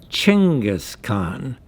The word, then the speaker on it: Chinggis Khaan: pronounced in english is spelt and pronounced Chinggis Khaan in mongolian these are bronze statues